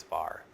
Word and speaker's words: VAR: voltamps reactive, or just, I will always pronounce it as VAR. I don't know if that's an industry standard or not, but I like to pronounce them.